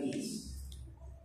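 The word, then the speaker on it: Keyes: hablamos de la tiada de Kiss no Kiss como la banda de r kis K se escribe K e y que es así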